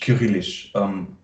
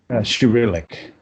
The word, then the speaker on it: Cyrillic: can read, how do you say in English, Kyrillish? Cyrillic.